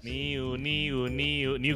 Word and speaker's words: NU: New green tea, ini dia minumanmu kalau misalnya kamu haus. Itu NU, oh, iya. Boleh tapi bacanya new.